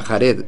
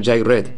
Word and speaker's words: Jared: De hecho, en la primera guía no era Jared, sino Jaired. No sé si algún día sabremos exactamente cómo se pronuncia, pero debemos seguir lo acordado, para que todos sepan de quién estamos hablando.